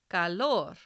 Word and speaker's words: calor: The second rule: if the word ends in any other consonant, then the stress is on the last syllable. So we say these words as calor, reloj, diversidad, cicatriz.